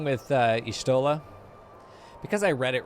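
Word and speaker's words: Y'shtola: what's wrong with uh ishtola because i read it wrong there's nothing wrong with her name i read it wrong i i thought it was yusulta you know i thought it was ishota and that it's just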